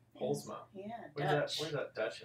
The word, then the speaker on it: Poelsma: Deana how do you say your last name pulma pulma yeah dut where's that Dutch okay yeah my